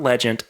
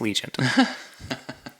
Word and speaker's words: Legion: where we reviewed it it's not legend it is Legion oh very I had